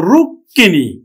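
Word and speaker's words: রুক্মিণী: বিশ্বয় বিশ্বয় তারপরে দেখো রুক্কিনি রুক্কিনি রুক্কিনি তাহলে কার সাথে মফালা আছে এবার ক এর সাথে তাহলে ক দুইবার উচ্চারিত হবে তাহলে আমরা উচ্চারণ করব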